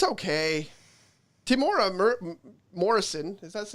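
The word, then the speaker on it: Temuera Morrison: Timora Morrison, is that his name? Timora Morrison?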